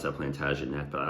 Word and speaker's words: Plantagenet: where they lay and called mine Percy his plantagen probably supposed to pronounce that plantagenet but I like to say plantag cuz it